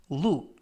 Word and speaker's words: look: 이번 표현은 look 라고 발음하시면 되겠고요. 끝부분의 크 발음은 강하게 안 하셔도 됩니다.